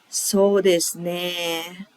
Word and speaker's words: そうですね: It's pronounced as this. そうですね. The pitch is not going up at the end, and ね sound is a little bit elongated, more like ね.